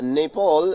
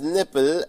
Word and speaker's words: Nepal: political US President Donald Trump mispronounce Nepal as nipple and Bhutan as button during a briefing ahead